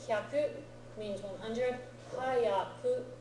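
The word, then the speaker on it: 早く: Hayaku, spelled with ha, full-size yaku, means fast, quickly.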